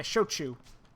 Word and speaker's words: shochu: whiskey other guy wanted sweet potato shoe or choshu I don't know how you say it yeah shochu there you go and finally the last guy